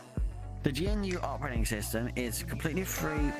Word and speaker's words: GNU: it's his H the gnu operating system is completely free Software System op compatible with Unix G for G is not un it is pronounced as one syllable with a hard G huh oh it's all